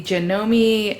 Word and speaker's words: Janome: still in the box but it is the janome um i think that's how you pronounce it right it's like janome but you know me fast lane sewing machine